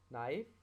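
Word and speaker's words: know: K will become silent before N. N अगर K से पहले आए तो K साइलेंट हो जाता है, जैसे नाइफ, नो, नॉक, निट, नी।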